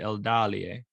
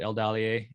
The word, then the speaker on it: Eldalië: sure the the e if it is short then the stress falls in the syllable before it's a third from the end so it would be el dalier right so i would be pronouncing it correctly so it all depends